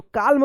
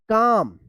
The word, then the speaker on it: calm: तो काल्म पढ़ेंगे, नहीं, गलत होगा, इसको पढ़ेंगे काम, यानी एल यहाँ पे भी साइलेंट रहेगा।